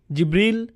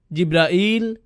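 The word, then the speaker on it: جبريل: উচ্চারণ করেন তার নাম জিবরীল জিব্রাইল জিব্রাইল জিব্রাইল জিবরীল এই পাঁচ ভাবে তার নাম উচ্চারণ করা হয় আর এটা বিভিন্ন কিরাতের মাধ্যমে বর্ণনা করা হয়েছে ইল ইল মানে আল্লাহ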